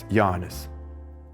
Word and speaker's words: Jānis: For example, in Latvian, the stress usually falls on the first syllable of the word. “My name is Jānis.”